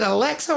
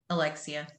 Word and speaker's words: Alexia: And is it Alexa or Alexia? Am I supposed to pronounce the I? Alexia.